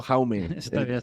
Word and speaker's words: Jaume: mi nombre y apellido jaume que es Jaime en catalán sues s s cula excelente eh jaume se pronuncia yo lo está diciendo jaume jaume un placer que haya